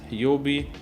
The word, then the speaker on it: Huobi: Binance, which means that it's listed on Binance, Huobi, that's how it's said, Kraken, KuCoin, Bittrex, Poloniex.